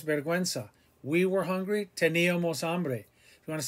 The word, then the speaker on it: hambre: Remember the H is silent. Hambre, hambre, hambre.